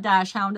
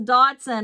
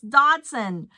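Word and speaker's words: dachshund: weenie it's a dashound no not dashound it's a doson I always say dashound and it's Dotson why do they spell it like that y why oh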